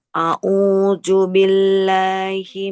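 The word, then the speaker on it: أعوذ بالله: A'udzu billahi minasyaitonir rajim. Bismillahirrahmanirrahim. Kita ulang Bingung ya? sedikit Ibu. Ya Nah, Allah, salah. dari tahun jangan auju huruf zal ya, bukan huruf jim.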